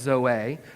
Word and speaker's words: Zoe: It's specifically, I know it's pronounced Zoe, because the pastor, he really works hard to clarify. You pronounce it, it's Zoe like Beyonce.